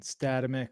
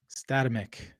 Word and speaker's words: Statamic: You say it's statamic. Static dynamic.